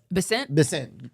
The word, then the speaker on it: Bessent: Bessent.